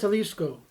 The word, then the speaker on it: Jalisco: No, I think it's pronounced Jalisco.